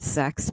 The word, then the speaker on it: CeX: I say the word sex people okay let me talk in a low voice here's what sex is it's spelled CeX it's a centralized exchange